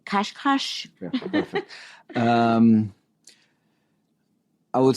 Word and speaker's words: Cascais: Cascais?